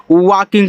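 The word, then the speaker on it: walking: वा ऐसे ये देखो जब ए के बाद एल हो और एल के बाद के आ जाए तो एल आपका साइलेंट होता है।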